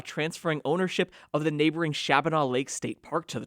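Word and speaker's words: Shabbona: Raphael Wasuk drives through Chief Shabana Forest Preserve in Northern Illinois. He's a member of the prairie band Padawatami tribal council and a direct descendant of the chief whose name the prairie band pronounces Shabni.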